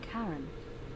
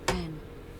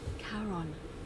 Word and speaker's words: Charon: Only your pronunciation is a little off. The name you heard wasn't Karen. It was Charon, as in Charon, the ferryman of the dead.